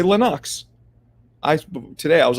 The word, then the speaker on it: Lennox: name appreciate you Dwayne is not Lennox it's pronounced Lenox out of his mouth from his mouth to my ears to y'all's ears Lenox not Lennox it's Lenox just saying that's one